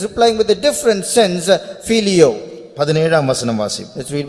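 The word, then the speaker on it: φιλέω: He is using another word in English, it's pronounced as filio.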